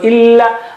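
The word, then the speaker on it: إلا: So illa, first one is flat and thin, and the other one is thick.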